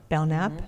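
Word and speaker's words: Belknap: Bellnap. Bellnap. Why am I thinking Belnap? because it's spelled P E K. The K is silent.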